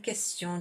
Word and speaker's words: question: Question, so the word question in French, you pronounce the Q and the U, que.